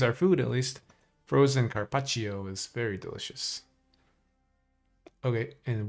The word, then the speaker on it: carpaccio: I might use up my charges and then I'll eat some carpaccio. Yeah, that's the right pronunciation.